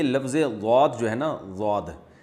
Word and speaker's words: ضاد: ضاد جو ہے نا، ضاد یہ زوئیں کے مشابہ ہے، طوا اور ضوا ہوتا ہے نا، اس کے مشابہ ہے، دال کے مشابہ نہیں ہے۔ ضاد پڑھنا بالکل غلط ہے۔